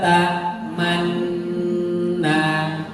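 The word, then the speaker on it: تأمنا: Qalu ya abana malaka la ta'manna. Ingat monyongnya harus ada aturannya. Man, kemudian nu, arif baru angkat tiga ini.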